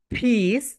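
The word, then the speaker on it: piece: সবাই বলো, ইটস আ ফিস, ফিস, ফিস মানে কি বলতো, টুকরা টুকরা। আমরা যেটাকে পিস বলি, পিস বলি, এটা রাইট প্রোনাউন্সিয়েশন ফিস, ফিস।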